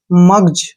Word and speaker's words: mugs: अब जैसे नेक्स्ट है MUGS, मग्स नहीं पढ़ना है, ये है मग्स, मग्ज।